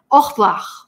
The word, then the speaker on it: au revoir: А французское слово нужно очень долго репетировать, и оно будет звучать «au revoir». Вот «au revoir» – это «au revoir», который произносим по-русски.